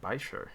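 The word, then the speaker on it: Baizhu: Oh my god, Baisher. That's how you pronounce it.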